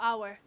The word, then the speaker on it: hour: ያቺ ናት ናውን አምታደርግልን። half hour እሺ half ኮንሶናንት ነው አፍ አይደለም half ነው። so a ነው የሚሆነው አይደለ?